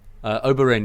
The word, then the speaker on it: Oberyn: Oberyn, yeah.